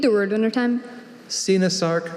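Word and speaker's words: coenosarc: Sinasarc, Senasarc, Sinosarc.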